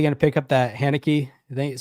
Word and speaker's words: Haneke: Well, are you anybody going to pick up that Haneke?